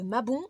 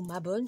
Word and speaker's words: Mabon: s'agit du sabbat de Mabon ou ma bonne selon comment on prononce c'est comme vous voulez c'est tout simplement l'équinoxe